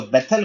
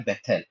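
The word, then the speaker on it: בית: सो बेथल कौन है?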